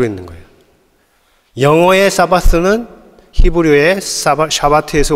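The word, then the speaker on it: שבת: 영어로 하면 싸바스인데 이것은 히브리어로 하면 샤바트입니다 둘이 발음은 다르지만 같은 것을 가리키고 있는 거예요 영어의 사바스는 히브리어의 샤바트에서 온 겁니다 둘 다 가르치는 말은 우리가 알듯이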